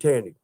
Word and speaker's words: Tandy: And we need Tandy. I said it, didn't I? It rhymes with candy.